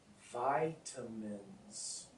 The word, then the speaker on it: vitamins: it is um and I know the eye is hard in English it's different in Spanish I know um and